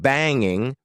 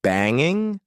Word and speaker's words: banging: Did you notice that when I'm trying to be extra informal, instead of saying banging with the ing sound at the end, I said banging. Sometimes we do this for emphasis. It also sometimes happens when we talk quickly.